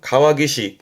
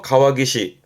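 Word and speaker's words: 川岸: 그래서 발음은 가와기시. 가화기시. 요때는 뒤에 올 때는 땡땡부터요. 가와기시.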